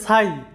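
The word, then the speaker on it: sigh: এরপরে দেখো যে সাই এস আই জি এইচ সাই আই এর পরে জি এইচ থাকার কারণে জি এইচ এর উচ্চারণ হয় নাই।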